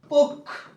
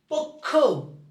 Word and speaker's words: পক্ষ: প্রথমে বসলে খ এবার এইটা যদি মাঝে অথবা শেষে বসে তখন খ আসে উচ্চারণে এবার পক্ষ যখন লিখতে যাচ্ছ পক্ষ পক্ষ পক্ষ এইযে উচ্চারণ হয়ে গেছে